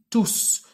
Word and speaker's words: tous: il ya un verbe to se prononce avec le s on dit tous comme vous le voyez ou bien comme vous l'avez remarqué dans la prononciation les cours sur l'environnement sont difficiles mais tous sans passionnant et il reste invariable pourquoi parce que il est toujours en masculin pluriel et le s final est prononcé on va maintenant voir